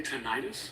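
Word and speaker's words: tinnitus: pronounced or is it tonitis? Most people say tenitis. Okay, emphasizing the itis, the inflammatory part of it.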